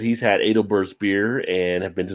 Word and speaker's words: Adelbert's: It's pronounced adel.